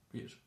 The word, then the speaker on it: bir: But if you hear it, know that there is actually no sh there. It's just bir.